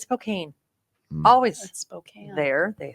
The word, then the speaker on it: Spokane: to be here here this is it's like Spokan always called it's Spokane always spane there they say SP but then